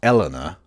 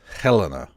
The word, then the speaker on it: Helena: I know I don't pronounce things very well, but her name is not Eleanor. It's Helena. It is.